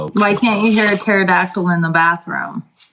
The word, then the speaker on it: pterodactyl: Why can't you hear a pterodactyl in the bathroom? Why? Because the P is silent.